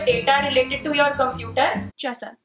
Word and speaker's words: Jessa: related to your computer Jessa Tessa no Jessa oh okay how do